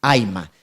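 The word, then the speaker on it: Ayma: Ya, el Aima, para los que no saben, se escribe A-Y-M-A, Aima.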